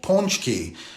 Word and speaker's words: pączki: This time of year, there's a pastry called pączki. That's how it's pronounced.